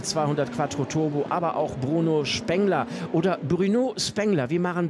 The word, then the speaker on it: Bruno Spengler: Bruno Spengler klingt so ein bisschen nach Duisburg-Meiderich, da ist er aber nicht her und Bruno Spengler könnte tatsächlich die korrekte Aussprache sein.